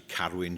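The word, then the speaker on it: Carwyn: My name is actually Carowin. It is Carowin. That's the pronunciation in in Welsh.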